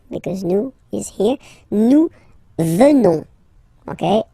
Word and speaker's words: venons: Nous venons. Okay, O-N-S, classical ending for nous, okay, final S not pronounced, so O-N, on, venons, venons, nous venons, nous